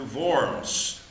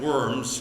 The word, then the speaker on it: Worms: there we went to VMS uh you've heard of the diet of worms uh we learned to pronounce things differently VMS is is the is the word for that uh where Luther defended